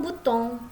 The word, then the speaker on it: bouton: Oke, song ya, dibaca song, sesong butong ya. Sesong butong ya, dibacanya seperti itu. Nih, butong ya, dibacanya OU jadi U ya.